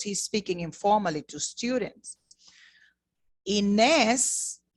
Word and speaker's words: Inés: Inés, notice I said Inés because I'm using this pronunciation that we spoke about. I said Inés because the accent tells me to make a long sound for this name, Inés.